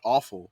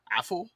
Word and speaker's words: Afful: And then it looks like his last name is spelled, it's not awful, but it's Afful.